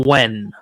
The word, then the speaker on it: Nguyen: It's gonna sound, but the name Wen. Okay. Okay. Everyone's seen the name Wen. Wen. You've seen it a bunch, Jared. Work in telemarketing. Yeah, Nguyen. That is Wen.